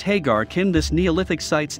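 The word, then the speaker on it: Ħaġar Qim: Pronounced Hagar Kim, this Neolithic site's name means standing stones.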